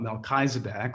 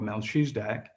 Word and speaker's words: Melchizedek: going to talk about melchizedek or mel shusdak depending upon whose interpretation or pronunciation of the bible that you are referring to uh manchester united